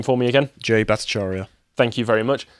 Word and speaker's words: Jay Bhattacharya: were actively being suppressed by this, like, please pronounce his name for me again. Jay Bhattacharya.